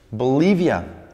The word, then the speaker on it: Bolivia: que esté pronunciada así bolivia bolivia tres sílabas ok bolivia bolivia no pierde el acento queda me refiero